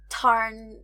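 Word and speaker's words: Tairn: it was like yeah the one I saw and like tar or t or it's it's supposed to be like T or like we're not supposed to be saying the R I think I'm not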